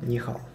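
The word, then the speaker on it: 你好: Допустим, самая первая фраза, которая читается, это нихао. Да? В данном случае два иероглифа, оба третьим тоном. И ты, и хороший. Да? Ни и хао. Да, но ни будет произноситься вторым. Ни. И получается фраза... Ни хао.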